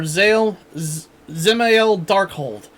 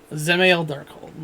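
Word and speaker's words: Dzemael Darkhold: I just assumed the D's silent. Yeah. Zemael Darkhold.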